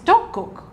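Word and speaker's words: 떡국: what we're going to make today which is dokgok which is the traditional korean rice cake soup you pronounce that perfectly it's not easy yes yeah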